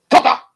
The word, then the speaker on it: Koza: She has a shark assistant named Koza, or as it should be properly pronounced, Koza.